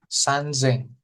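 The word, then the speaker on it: 三千: Tapi untuk 3.000 dan 8.000 R000 dia berubah gitu ya. Coba dibaca yang 3.000 berapa relatif? 3.000 itu seng seng sazeng san sanzeng sanzeng. Iya sanzeng.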